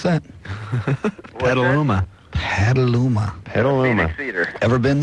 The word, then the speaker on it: Petaluma: How do you pronounce that? Petaluma.